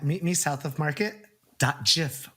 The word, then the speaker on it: GIF: Find me on the Insta at Meet Me South of Market .gif with a soft G.